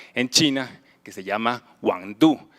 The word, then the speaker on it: Wang Du: Hoy vamos a hablar de este artista francés que nació en China, que se llama Wang Du, se pronuncia así como Mambrú, y su obra en la exposición Y aquí la luz es la que está en el lobby de entrada.